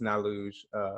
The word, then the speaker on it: Naluge: Most of my things that you find me is House of Naluge, and it's Julian backwards. It's Naluge.